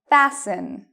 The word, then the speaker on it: fasten: Fasten. Fasten. Okay, last one. Moisten. Moisten. So even though you see T-E-N, T-L-E, T-E-N, you do not pronounce the T in these words.